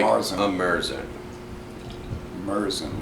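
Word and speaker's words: Märzen: I think it looks like a Merzen. I think a lot of brewing companies are confused between what is a It Festbier looks and like a Marzen. a Merson. Merzen, like an emergency room.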